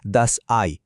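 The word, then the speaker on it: das Ei: যখন ই আগে আর আই পরে আসে মানে ই আই তখন এর উচ্চারণ হবে আই। যেমন ডিমের জার্মান হলো দ্যাস আই।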